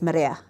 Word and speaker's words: Marea: So the public knows me as Mia, or the, but my whānau know me as Maria. And I know when it's my whānau because they say my name correctly.